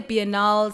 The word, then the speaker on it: Biennale: Biennale quickly, A Biennale is I said Bennyaleh. Some people say Biennales, some people say (pronounciation) B-N-L,.